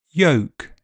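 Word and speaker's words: yolk: Elf selves health Welsh help bulb bolt sold milk belch bulge kiln film and L is silent in some words calm palm Arm salmon half chalk talk walk folk yoke would could kernel.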